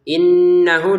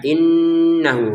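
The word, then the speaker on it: إِنَّهُ: Innahu di sini ada didengungkan ya. Innahu hunya dua harakat.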